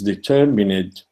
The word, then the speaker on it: determinate: And the same happens with, and by the verdict is determinate. Determinate needs to be pronounced. The final syllable needs to be there in order to produce the 5 iambic beats.